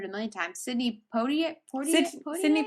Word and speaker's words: Poitier: Sydney Poitier? Sidney Poitier, yes.